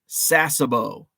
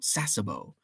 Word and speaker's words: Sasebo: to do it soon your second pronunciation was right sasebo like your name oh very cool sasebo sasebo pristine paper what's